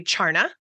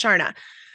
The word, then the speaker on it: Charna: me and they say charna obviously it's a CH and I'm like oh it's actually pronounced Sharna there are so many